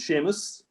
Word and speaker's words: Seamus: The correct pronunciation is Seamus. Seamus, I'm really sorry, I should know.